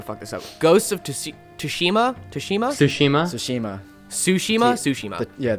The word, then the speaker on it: Tsushima: Ghost of Tsushima. Yeah, the T is silent. Ghost of Tsushima got Best Art Direction.